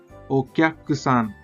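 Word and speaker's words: おきゃくさん: अभी की के साथ या जुड़ चुका है, इसके वजह से उसका प्रोनाउंसिएशन होगा ओक्याकुसान।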